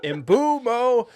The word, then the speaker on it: Mbeumo: We've researched how to pronounce his name. That is basically out of his mouth, like you know how he says it. Embumo. Uh, I've been going with Emuo.